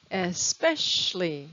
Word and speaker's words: especially: a we don't pronounce especially so it's a three-syllable word with the stress on the second syllable especially the next word